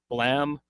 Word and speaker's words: Blame: He did Blam, or it's spelled Blame.